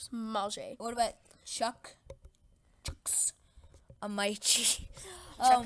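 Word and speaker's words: Mauger: Manger, his name is Mulger, but he asked for us to pronounce it differently, so Manger.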